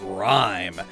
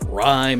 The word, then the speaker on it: Ryme: Ryme is the MC of R.I.P., a rap artist, and her Japanese name is Lyme, which does rhyme with time and rhyme, so that's good.